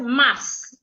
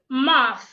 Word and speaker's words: math: the first word as mass m is M time I hits M no the word is MAF now you realize that